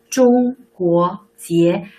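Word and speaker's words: 中国结: You can practice your pronunciation. 中国结.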